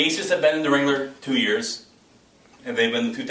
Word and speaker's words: Ringler: one of the divisions has been dominant it rhymes with gingler i call them the rings all right the aces have been in the wrangler two years and they've